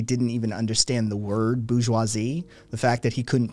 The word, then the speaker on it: bourgeoisie: b-o-u-r-g-e-o i-s-i-s-e i-s-i-e sorry bourgeoisie right that's the word bourgeois we did uh boogie seuss's isn't it is an acceptable alternate pronunciation on this channel um but to understand